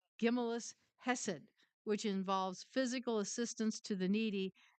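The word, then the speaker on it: Gemilut Chesed: It says the Talmud differentiates between charity, giving money to the poor, and what's pronounced Gimellus Hesed, which involves physical assistance to the needy and seeking ways to make the aid meaningful.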